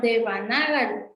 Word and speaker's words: Devanagari: Y siempre he tenido duda, ¿es Devnagari, Devanagari o como tú lo pronuncias? Porque según yo era de... Ajá, Devanagari.